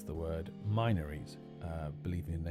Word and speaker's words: Minories: So it is really a case of whether you can use the assumed Latin pronunciation or the anglicized pronunciation of the word minor or minor. I'm going to stick with Minories just because I think it sounds more like a place name than Minories.